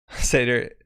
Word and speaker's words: Seder: The D in Seder is pronounced like a TH in brother.